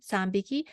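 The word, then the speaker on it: 三匹: So 3 is B, B sound. 3匹.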